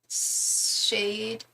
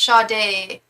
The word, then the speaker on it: Sade: Are you Shade only only puts out a Oh, I think her name's pronounced Shade.